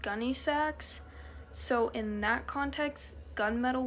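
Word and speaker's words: Gunne Sax: I would say gunmetal, which, funny thing is, I found gun sax is actually pronounced gunny sax, so in that context, gunmetal would be pronounced gunny metal.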